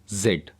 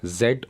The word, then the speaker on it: Z: वी डब्ल्यू एक्स वाई जेड और जी जो last letter है इंग्लिश अल्फाबेट का उसको दो तरीके से प्रोनाउंस किया जाता है जेड और जी अब जो है स्कूल्स